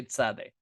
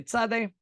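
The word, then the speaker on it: צדי: They pronounce their tzeds as a ts sound. The z becomes a ts sound. And this is how we say tzadeh. So now we say tzadeh. Tzedek, it's righteousness, not sadek, which is fine, right?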